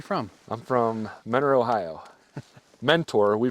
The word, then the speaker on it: Mentor: Mentor, we pronounce it Mentor.